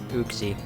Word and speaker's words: Uxie: take for me to capture ooxy or uxie i always swap between how i pronounce its name but i guess i'll just start saying uxie guess you didn't